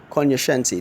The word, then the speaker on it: cognoscenti: expert is see og and o SC ence cognoscenti cognoscenti that's how the word is pronounced it's even a synonym for connoisseur now